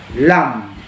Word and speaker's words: lam: The Indian mantra sound is pronounced as lam, or in the actual mantra, you can say lam, lam.